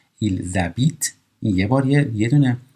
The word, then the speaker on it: ils habitent: ایل زبیت این اش موه هستش یعنی تلفظ نمیشه، در اینجا مثل این میمونه اصلا این اش وجود نداره، پس این اس به این ا میچسبه میشه ایل زبیت.